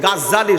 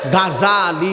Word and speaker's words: গাজালি: ইমাম গাজ্জালি আমার আগে যে হুজুরে ওয়াজ করেছেন, উনি বলছে গাজ্জালি শব্দটা গাজ্জালি নয়, শব্দটা হবে গাজালি। আবার বলেন শব্দটা কি হবে? গাজালি। কেউ যদি বলে গাজ্জালি, এটা উচ্চারণ ভুল হবে।